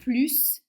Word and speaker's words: plus: Donc on ne prononce pas le S. Il est plus grand que toi. Deuxième phrase, son frère a 1 an de plus que lui puisque là